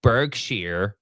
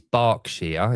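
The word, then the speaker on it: Berkshire: Um, but like Bergshere, um, it's barkshere. It's pronounced bark. Like a dog barks.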